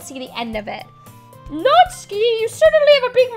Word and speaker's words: Natsuki: No, it's actually how you pronounce Natsuki. It's not, you don't say Natsuki, it's Natsuki.